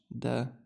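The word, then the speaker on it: د: This is basically D in English. Da di du. Da di du, okay?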